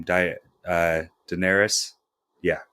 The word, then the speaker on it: Daenerys: how do you say your name diet uh daenerys yeah daenerys the queen of dragons amelia clark plays her